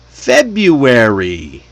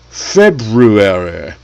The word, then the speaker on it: February: Even native speakers usually skip that first R in this word.